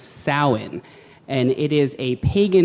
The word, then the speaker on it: Samhain: you can see it it looks like it would be pronounced Samhain but it is not it is pronounced Salin and it is a